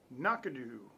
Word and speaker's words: Knockando: video of the gentleman just saying one word knock-a-doo yep knock-a-doo 12-year-old scotch and it says it's